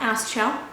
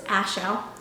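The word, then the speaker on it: Aschel: last name oddly enough it's not Asel or it's ashel silen C so hopefully um people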